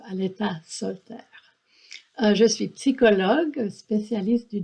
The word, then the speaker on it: Aletha Solter: En français, on le prononce Aleta Solter.